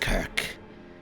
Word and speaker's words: Kirk: me whatever you want i'm pronounced kirk in common kirk yeah okay now